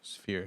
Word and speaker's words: sphere: So now there's the first shows ever inside of the spear.